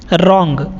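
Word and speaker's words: wrong: ब्राउन नहीं पढ़ते हैं व यहां पर साइलेंट होता है इसको नहीं बोला जाता है सिर्फ और सिर्फ क्या पढ़ते हैं रंग पढ़ते हैं इट इसे रोंग या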